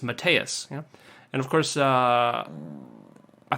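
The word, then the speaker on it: Mateusz: is pronounced Matthias and it's actually very easy to pronounce if you look at it you just you just don't pronounce the Z and it's matteus and of course uh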